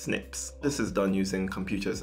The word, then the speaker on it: SNP: segments that are called SNPs (pronounced snips).